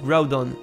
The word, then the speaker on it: Groudon: Pour Groudon, les japonais et les anglais le prononcent Groudon, qu'on peut diviser en